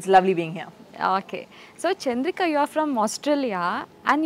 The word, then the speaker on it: Chandrika: West when they're like, what's your name? Is it Chandrika? I'm like, no, it's Chandrika. You have to say it properly.